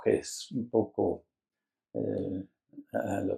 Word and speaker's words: Hesse: escritor alemán Hermann, bueno, para los que pronuncian más bien el alemán, yo no sé alemán, me van a disculpar, pero es Hesse, Hermann Hesse. Bueno, yo siempre le digo Hesse, un poco eh, a